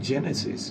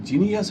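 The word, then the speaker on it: Genesis: যেমন আমাদের একটা হাসপাতাল আছে, হাসপাতালটার নাম জেনেসিস, খুব একটা ডিফিকাল্ট না, কিন্তু একে অনেকে বলে গণেশ হাসপাতাল, জিনিয়াস হসপিটাল, জেনেটিক্স হসপিটাল। তখন আরেকজন কারেক্ট করবে ওটা জেনেটিক্স না, ওটা জেনেসিস।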